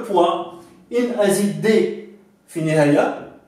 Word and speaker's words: poids: Donc là, si on rajoute un D, ça veut dire le poids.